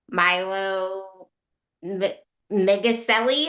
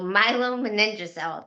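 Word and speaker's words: myelomeningocele: I never know how to say it. I feel awful that I can't say it, but I think that's how you say it. It's my It's It's Milo Maninja.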